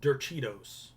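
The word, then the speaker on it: derechos: No, I looked it up and it said ye, like Y-E-H, like yeah.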